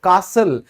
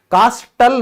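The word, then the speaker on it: castle: फिर किला, ठीक है, पहले किले होते थे तो इसको हम क्या कहते हैं, कासल, कास्टल नहीं बोलेंगे क्योंकि टी के बाद हमारा एल ई आया हुआ है।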